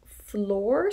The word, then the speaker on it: Floor: this is the name floor spelled f-l-o-o-r may not go over so well in america or english-speaking countries because floor like the ground or fleur f-l-e-u-r which